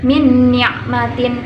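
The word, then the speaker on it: مِنْ نِعْمَةٍ: Kemudian yang nomor 2 nun sukun bertemu dengan nun, maka dibaca min ni'matin.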